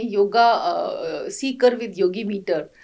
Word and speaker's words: CEEKR: आपके जो प्रयास हैं yoga Sikar with Yogi metre जी, ये नाम बड़ा इम्प्रेस कर रहा है मुझे जी। तो स्पेलिंग है CEEKR और बोलने में आता है सीकर, मतलब जो कोई खोज